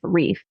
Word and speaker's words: Riff: came about and then I actually was still pronouncing riff reef and then I was like no it's too close to the other thing let's just make it riff so it's like maybe German sounding or some like Bavarian